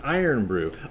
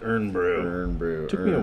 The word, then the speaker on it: Irn-Bru: but soda so yeah so yeah and it's iron brew i originally saw the package and kept mispronouncing it as earn bro stop calling iron brew and the only reason